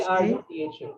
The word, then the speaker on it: Arudha: So this word Ardha Lagna, how do you spell it? Ardha? A-R-D-H-A? A-R-U-D-H-A, Arudha.